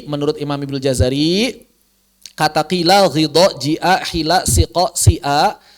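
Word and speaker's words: قيل: Tapi alhamdulillah Imam Asim tidak membaca dengan ismam. Kita baca qila saja biasa. Qila, begitu.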